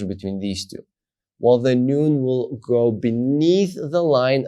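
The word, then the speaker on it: ן: So here you have vav, which is pronounced va, and here you have noon, the final one, which is pronounced na.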